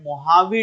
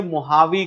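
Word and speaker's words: Mojave: desert लिखा हुआ है महावी डेजर्ट मुजा भी लिखा होगा बट याद रखिएगा ट in Mexico okay they don't pronounce जे व जे को एच प्रोनाउंस करते हैं इसलिए इसे महावी कहा जाता है और महावी के साउथ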